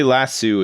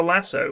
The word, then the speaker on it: lasso: I would say lassu as well. I I don't know why. I think it's just like a throwback to being a kid. I think we just pronounced it that way. I always do them as lassu. A lasso. No, but in America it's a lasso.